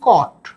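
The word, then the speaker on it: caught: কট হয়েছে এটার উচ্চারণ কট সি এ ইউ জি এইচ টি কট সি ও টিট হয় সেটা মানে কট মানে বাচ্চাদের দোলনা বা বাচ্চাদের শোয়ার যে বিছানা সেই কট নয় কিন্তু উচ্চারণটা কট কিন্তু ক্যাচ থেকে কট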